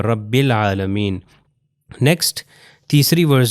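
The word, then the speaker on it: رب العالمين: उसी में से है कि ये अलिफ जो है प्रोनाउंस नहीं होगा। रब्बुल आलमीन।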